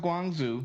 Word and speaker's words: Guangzhou: He don't know if that's Guangzhou. I hope we meet a Chinese. It is pronounced Guangzhou.